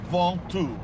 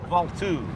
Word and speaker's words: Ventoux: Ventoux. Ventoux. Yeah. Ventoux.